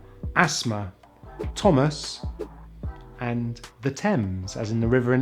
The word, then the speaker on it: Thames: technology mechanic chaos ache sometimes the h is silent in th such as thailand time asthma thomas and the thames as in the river